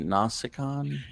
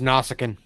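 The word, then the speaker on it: Nausicaan: or a Romulan did I say that right nasikan uh it's pronounced nausicin yes yes I know I'm I'm such a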